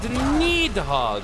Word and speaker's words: Nidhogg: Or Needhogg, I probably should be saying with a little bit more vigor with that particular pronunciation.